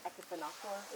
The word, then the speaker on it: Okefenokee: Okefenokee is an interpretation of a Seminole word. It's also like Okefenokee is the other kind of popular pronunciation, and it loosely translates to land of the trembling earth.